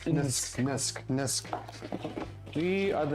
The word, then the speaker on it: NSK: It's pronounced Nisk.